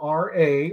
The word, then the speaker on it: Ra: with the re because r e is also uh spelled r a or pronounced as ra in egyptian mythology and you guys know